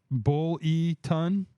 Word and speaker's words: Buellton: Buellton? Oh. Bull-E-Ton, California.